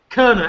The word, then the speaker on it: Koerner: Koerner, actually. It rhymes with Turner, so you got that.